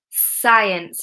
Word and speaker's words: science: Okay, so if it's preceded by the letter S, that means that we have an S and then a C. Okay, an S before the C. Like scissors, okay? S-C. Then the C is silent. Can you think of any other examples where we have SC and the C is silent? We pronounce it with an S sound.